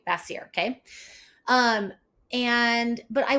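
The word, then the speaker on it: Vacier: I want to say it's called vasir but I don't so it's spelled v a c i e r okay bassier okay um and but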